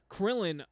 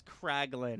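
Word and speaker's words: Kraglin: the lineup you gave Krillin uh an arc did I say his name right no you didn't his name is craglin Craig you said Krillin whose little bald guy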